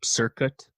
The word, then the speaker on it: Cirkut: Yeah, she has this working relationship with this producer, Circuit, I think is how you say it, Cirkut, who's a disciple of Dr.